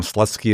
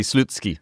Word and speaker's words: Slutsky: Not the proper pronunciation, but that's what we call him. I had to look it up myself for the for for the audio version. Apparently, it would be Slutsky.